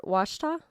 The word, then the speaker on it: Ouachita: Washita? Washita. Yeah. Yeah. Yes. Well, Only if you're from the South. OUACHITA. Yeah, OUACHITA. is Pronounced how it's spelled. Washita.